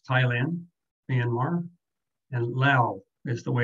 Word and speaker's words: Laos: says thailand myanmar and lao is the way it's pronounced there where else used to call it laos they seem to drop the s from the pronunciation and it's also a